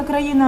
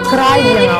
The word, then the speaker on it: країна: розкаже хто не подобається країна оце країна всетаки країна в Україні же не люблю коли так наголоси можна на ка поміця пісенька